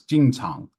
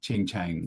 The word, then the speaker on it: Jing Chang: And then his name was Jing Chang, not Ching Chang, which sounds horrible in English. So, I do want to clarify, Dong Jing Chang was his name.